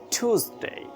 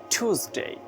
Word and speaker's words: Tuesday: Tuesday. It's like TWO. Two. Tuesday.